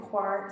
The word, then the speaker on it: coir: That material is called coir, C-O-I-R. I'm pronouncing it coir. Some people call it coir, so I just want to tell you, you might hear it either way.